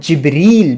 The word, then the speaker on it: جبریل: کہا جبرائیل علیہ السلام، دراصل یہ تلفظ کا فرق ہوتا ہے، جبرائیل بھی کہہ سکتے ہیں اور جبریل بھی کہہ سکتے ہیں، ٹھیک ہے؟